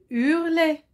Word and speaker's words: hurlait: très bien ensuite hurlé hurlait hurlait commence par un as muet ça se prononce pas hurlait s'est tu le